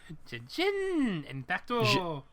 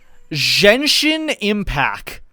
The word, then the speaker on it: Genshin Impact: She said Genshin Impact. She missed the T on the end, and she pronounced the G like a fucking Z.